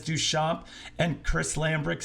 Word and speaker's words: Duchamp: In French, you don't pronounce the P, Duchamp.